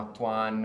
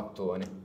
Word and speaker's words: Mattone: In realtà è una cosa semplice; Mi piace di più rispetto all'italiano perché gli americani tendono a leggerlo come "Mat-uan". Io dico: "No, Mat-uan va bene, ma si pronuncia Mattone", e tutti ...